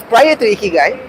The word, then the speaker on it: Ikigai: Now, Ikigai comes from the word Iki and Ka-I, pronounced as Ikigai.